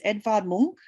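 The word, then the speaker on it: Edvard Munch: look at like obviously how do you say Edward? He's Edvard Monk because he's Norwegian. A lot of people sort of say his name, probably we say his name wrong, but yeah, that's okay. But it's Edvard Monk.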